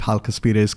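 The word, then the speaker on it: Chalkaspides: going to call it Hal kaspas cuz I discovered that the c h is kind of silent I always assumed that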